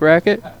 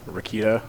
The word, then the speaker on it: Rakita: I am Andrews with Inside Pool Magazine joined in the booth here with Racket. What's up? Rakita. Rakita. He's pronounced my name right.